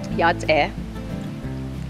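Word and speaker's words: Yá'át'ééh: Yate. Yate. Joe and Justin. Can you tell us more about that word? How do you pronounce that? You say ya. Ya. Ya. Te. Te. Ya-te. Ya. Te.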